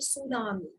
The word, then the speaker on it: tsunami: And tsunami, you know, इसको हम pronounce करेंगे tsunami. Tsunami. Okay. ये एक Japanese word है, made up of two words, जो कि two words का mixture है.